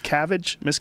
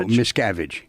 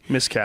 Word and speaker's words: Miscavige: What's the correct pronunciation? It's Miscavige? No, Miscavige. Miscavige. Yeah, the actual name of the book is Ruthless.